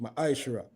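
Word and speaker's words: מעשר: Means tenth in the Hebrew and is pronounced ma'ashra.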